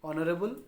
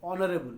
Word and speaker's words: honorable: Honorable. We don't pronounce H. We pronounce from O.